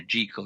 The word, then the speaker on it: Jekyll: Jekyll and Mr. Hyde, I suppose I should be saying Dr. Jekyll and Mr. Hyde, by the way, which is the proper pronunciation of the doctor's name.